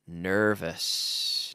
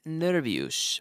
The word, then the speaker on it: nervous: Because it's not nervous, but nervous. It's almost like an E. N-E-R-V-E-S. Nervous. Or almost like an I. Nervous.